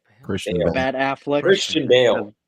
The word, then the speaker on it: Christian Bale: Chris Bales. Why am I saying his name wrong? Christian Bale.